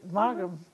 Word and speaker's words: Maugham: How do you pronounce that, Angie? I believe it. You're right. Maugham.